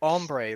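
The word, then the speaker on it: hombre: Like ombre. Like you don't pronounce the H.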